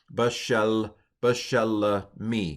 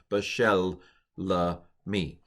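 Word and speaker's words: בְּשֶׁלְּמִי: Bashel me. You should pronounce the lamed twice because there are two lameds there. Bashel me.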